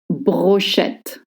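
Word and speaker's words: brochette: The name of this is brochet. Brochet with a shh sound.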